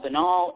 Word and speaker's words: banal: and of course i had to look up how to pronounce banal because that canal banal anyway yes i'm here